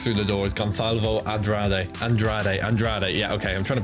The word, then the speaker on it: Andrade: Andrade. Yeah, okay. I'm trying to pronounce his name. I'm just too used to Andrande, adding in the N like that.